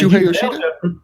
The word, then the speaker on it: Shuhei Yoshida: Wow, you nailed that pronunciation. So what's his name again? What's that? I said Shuhei Yoshida?